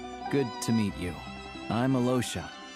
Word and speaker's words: Alyosha: I'm Alosha. He doesn't even try to pronounce the Y. Just ignores it. Alosha.